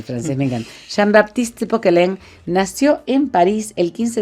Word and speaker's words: Poquelin: se llamaba Jean Baptiste Pokelen. Jean Baptiste Pokelen. Se escribe Pokelin, ¿verdad?